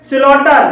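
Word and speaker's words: slaughter: है इसी तरह से स्लटर स्लटर में एयू के बाद जी एच आया है और यहां पर भी जी एच साइलेंट है फिट ॉट में एयू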